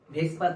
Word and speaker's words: VSEPR: আজকে আমাদের আলোচনার topic ভেসপার theory. Actually VSEPR theory, এটাকে আমরা কেমিস্ট্রি কমিউনিটির লোকেরা উচ্চারণের সুবিধার্থে ভেসপার বলি।